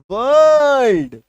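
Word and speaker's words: world: लिखते समय संपूर्ण उच्चारण बोलते समय अर्धमन हो जाएगा आधा उच्चारण व अ र ड वर्ड डब्ल्यू आर एल डी आर के बाद एक्सोनेंट साउंड वर्ल्ड व अ र ल ड ऑर्डर ये देखो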